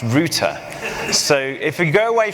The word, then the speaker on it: router: based on some URL is actually pronounced Rooter so if we go